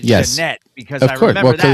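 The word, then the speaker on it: Ja'Net: And even though it was spelled Janet, she pronounced it Janette because I remember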